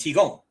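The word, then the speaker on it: Qigong: It is just Tai Chi and Chi Gong. See, most people think of Tai Chi the way it's spelled at the beginning of our title for today as t h i c h i and Chi as in the Chinese life force Chi. But it's not.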